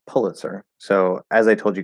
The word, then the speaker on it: Pulitzer: So either way, but does the first syllable rhyme with pull or pew? I would want to say pew for that. Maybe poo, pew, pew. Yeah, I say pew. Yeah, it'd be pull. Sounds exactly like pull.